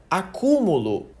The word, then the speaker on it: acúmulo: Porque na palavra acúmulo a sílaba tônica tá bem no meio. Agora, se eu falo acumulo, você entende que eu mudei o tempo verbal da palavra.